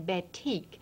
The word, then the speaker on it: batik: now let's go on to talk about the batik ba tik is the way this craft Farmar this textile term is pronounced it's very very old it comes to